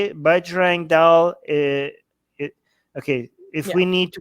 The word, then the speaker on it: Bajrang Dal: Bajrang Dal.